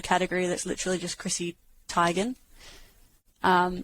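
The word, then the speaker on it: Teigen: that's literally just chrissy tygan um tegan tygan is it type it's tigen yes it was a big thing where she corrected it one day because nobody pronounced it right but it's tigen right well they're knowing we've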